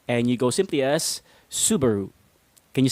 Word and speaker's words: Subaru: They pronounce it as Subaru. But you wanna get rid of the stress in the middle of the word, and you go simply as Subaru.